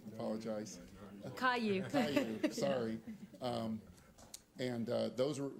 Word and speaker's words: Caillou: earlier today about some other areas on grand calu that um we're also rep i hope i pronounced that right i apologize caillou thank you sorry um and those are those